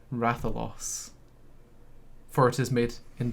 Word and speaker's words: Rathalos: in that trailer was someone saying uh rathalos what that is a weird pronunciation it's ratholos for it is made